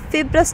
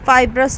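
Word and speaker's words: fibrous: এটা অনেকটাই ফিব্রাস টাইপের বা ফাইব্রাস টাইপের, যাই বলো না কেন প্রোনাউন্সিয়েশন, অনেকেই এভাবে করে প্রোনাউন্সিয়েশন করে। তো উচ্চতর শ্রেণীতে আমরা ফিব্রাসই বলে এসেছি, এখন দেখা যাক তোমাদের যেভাবে মনে চায় করতে পারো।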